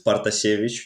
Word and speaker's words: Partasevitch: Well, you can just shorten it to Partas, but it's Partasevitch.